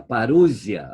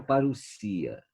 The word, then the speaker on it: parusia: paralisia para os ia parusia agora em portuguesa uma palavra de origem grega já a portuguesa parusia pronúncia inglesa para os ia elas significa literalmente chegada